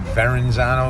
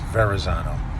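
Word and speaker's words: Verrazzano: For you that pronounce it Veronzano, there is no N in there. It's Verzano.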